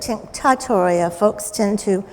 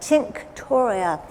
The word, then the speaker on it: tinctoria: Now, sometimes you'll hear it tinctatoria. British folks in particular, add an extra syllable. But tinctoria, Indigofera.